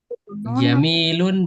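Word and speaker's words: جميل: Jamilun apa jamil Ustaz? Jamilun boleh, jamil. Kalau diwakafkan kita jamil. Boleh dua-duanya. Cara baca boleh dua-duanya.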